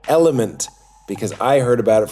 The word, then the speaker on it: LMNT: kept saying I put element in my water but uh I couldn't find it when I searched it it's because it's lmnt it's spelled l the letter L M and T and it is electrolytes